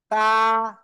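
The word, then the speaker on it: ت: তারপরে আলিফ, খেয়াল করেন, জিহ্বার আগা দুই দাঁতের আগায় গোড়ায় লাগান, গোড়ায়। তা, তা, তা, এক আলিফ টান হবে।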